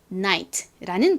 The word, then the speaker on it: night: 그래서 연결해보면 night라는 발음이 되죠. 자, 다시 한 번 더 GH가 묵음이 되는 경우를 말씀드리면 GH의 뒤에 T가 오는 경우 주로 묵음이 되고요.